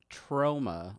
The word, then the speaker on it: Troma: it's very very best sired are critiquing your pronunciation it's troma law no sound from films notorious for nudity